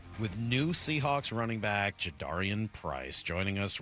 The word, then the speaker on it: Jadarian: It felt like kind of a way of of avoiding the correct pronunciation. So just make sure we get it right moving forward. Jadarian? Yes, it's Jadarian.